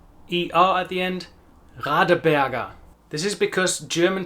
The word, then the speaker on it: Radeberger: Radeberger. ER at the end. Radeberger. This is because German pronunciation is non-rhotic. That means that the R at the end of a word is not directly pronounced.